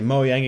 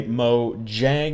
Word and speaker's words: Mojang: in the future and say moang again correct me tell me to say mo Jang instead so that I get it right and eventually maybe a